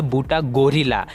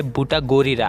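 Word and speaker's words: ブタゴリラ: तो जी हाँ, गोरिल्ला आप लोग उसको बोलते होंगे, बट नहीं, उसका हिंदी नेम आता है बूटा गोरीरा। आप स्पेलिंग भी चेक कर सकते हो, वो लास्ट में जो है वो आता है गोरीरा, ना कि गोरिल्ला।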